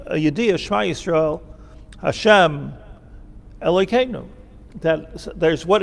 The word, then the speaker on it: Shema Yisrael: The right way to say this, by the way, is Shema Yisrael.